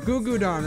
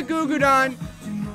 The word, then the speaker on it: Gugudan: Gugudan, right? That's how you say it. Gugudan. Gugudan. Gugudan. Gugudan. Go. Highlight. I'm gonna say Goo Goo Don. Even though I'm saying that wrong, but I remember they have one song that I like.